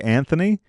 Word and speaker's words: Anthony: Well, it's just like we say Anthony, and it's Antony.